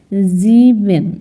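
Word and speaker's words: sieben: হচ্ছে ডান তারপর আছে জিবেন জিবেন এস তে দেওয়া আছে আমরা পড়েছিলাম একটু আগে এস এর উচ্চারণ প্রথমে থাকলে জ এর মত হবে তাহলে যে জয় এর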